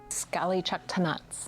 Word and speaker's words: Sk'ali Ch'elh-Tenaut: What does her name mean, and can you pronounce it again for the viewers? Sk'ali Chaktanat's name actually comes from the village site where she was captured.